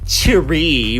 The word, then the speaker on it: Choerry: Okay, I'll admit, I thought this was kind of a Chinese pronunciation with something fancy like Choerry, but no, it's a play on to cutie, which is totes cute, guys.